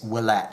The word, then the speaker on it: Ouellette: But the correct pronunciation, the French pronunciation of his last name is Ouellette.